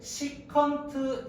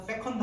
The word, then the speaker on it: 시컨트: 시컨트 A 하겠다 됐어요 시트라고 읽습니다 됐죠 세컨드 아니에요 알겠죠 왜냐면 다른 기가 이렇게 돼 있을 거예요 CC 돼 있을 거예요 코시컨트 이렇게 돼 거예요 그래서 여러분 세컨드 하시면 안 돼요 알겠죠 자 그래서 둘이